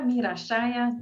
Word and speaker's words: Mira Saia: folks well i'm meera meera shaya that's the way we pronounce it in holland and um almost 49